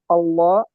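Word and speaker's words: الله: জাবার অথবা পেশ, এখানে দেখেন পেশ, জাবার অথবা পেশ যদি আসে তাহলে ওই আল্লাহ শব্দটাকে পুর করে পড়তে হবে, অর্থাৎ ল করে উচ্চারণ করতে হবে, ল উচ্চারণ করতে হবে।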